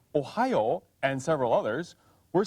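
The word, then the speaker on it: おはよう: ohio is written and in ancient times it was pronounced something like ohayou but through the years the pronunciation changed to ohio even though in hiragana it's still written ohio which is jumping ahead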